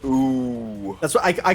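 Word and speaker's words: OOO: Again, we are O's spelt O-O-O. I would just call it ooh.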